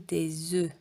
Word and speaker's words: œufs: comme heureux ou comme des œufs. Un œuf, ça se prononce comme ici, comme cœur. Un œuf. Des œufs, ça s'écrit comme ça et ça se prononce comme heureux.